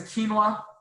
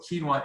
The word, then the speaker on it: quinoa: say that now so quinoa is the proper pronunciation of that it is the super